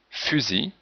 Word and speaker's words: fusil: Il, donc la lettre L finale, en général se prononce comme sel, mais dans outil, on ne prononce pas le L, fusil, et fils, le masculin de fille, le L n'est pas prononcé, mais le S est prononcé, fils.